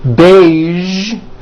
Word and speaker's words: beige: Now, there are only a few words that have the voiced zh sound at the end. A few of these words are the color beige, the word massage, and the word prestige.